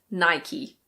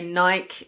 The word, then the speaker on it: Nike: This is Nike. Nike. There are some people who say Nike and technically that's incorrect, but honestly I wouldn't correct somebody if they said Nike because lots of people